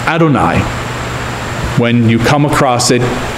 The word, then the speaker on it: Adonai: that you shouldn't swear this holiest of names is spelled out the old hey in Hebrew but out of respect the word is always pronounced Adonai when you come across